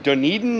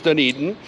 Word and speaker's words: Dunedin: As promised, we have arrived in Duneden, New Zealand. And we figured out, we found out that that is the proper pronunciation. We've been saying it right all along. It is Deneden.